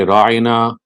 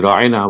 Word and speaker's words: Ra'ina: gathering of the Prophet, they would say Ra'ina, and they would slightly stress this syllable, and it would say Ra'ina, which would mean our shepherd. But the word is actually Ra'ina, which means please bear with us, please give us time,